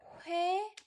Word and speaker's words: 회: So 회, let's compare 회 and 의 then. 회 and 의. 의. 회 sounds like a combination of two letters. 호 and 에.